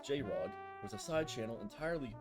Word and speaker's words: JR0G: JR0G, pronounced J-Rod, was a side channel entirely unrelated to Rod